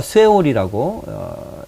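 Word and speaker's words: שאול: 여기서 이제 수울이라고 이 음부인데 이 음부가 쇠올이라고 읽히는데요.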